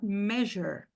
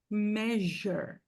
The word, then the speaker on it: measure: Em inglês, o S ele possui 4 sons. Às vezes ele vai ter som de S, às vezes de X, às vezes de Z e às vezes som de J, como na palavra measure.